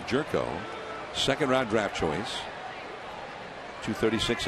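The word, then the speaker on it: Gyorko: that change up one ball in one strike jerko spells it name g y o r KO but it's pronounced jerko second round draft choice 236 average he doesn't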